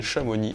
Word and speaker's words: Chamonix: monde le sait localement on les prononce osser Bruxelles chamoni mes g armé et